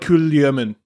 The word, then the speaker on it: Kulemin: Supposedly, it's more like Kulyamin.